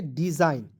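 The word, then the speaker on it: design: पहले ठीक है जैसे एन से तुरंत पहले जी आया तो जी को साइलेंट कर लीजिएगा डी ई पढ़ लीजिएगा डी एस आई जी एन तो हो जाएगा जाइन तो क्या क्या पढ़ेंगे डिजाइन ठीक है उसके बाद देखिए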